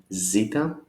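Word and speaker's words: ζήτα: Pronunciation always sounds as Z, zoo or zebra. It's just a Z, Z, zeta.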